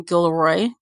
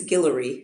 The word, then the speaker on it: Guillory: talking about the wedding date series by Jasmine Gilroy did I pronounce her last name right I know you know right it's I believe it's Guillory oh thank you I appreciate that so before